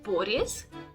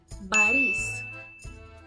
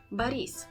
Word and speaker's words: Boris: to say it is Baris Baris this is because the stress goes on the E so on the second syllable not the first one and this is a